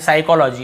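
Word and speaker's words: psychology: एस से पहले पी आए तो पी साइलेंट होता है।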